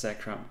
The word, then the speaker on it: Zekrom: Zekrom? Yes. Is that how you pronounce it? Exactly, oh. That's Zekrom.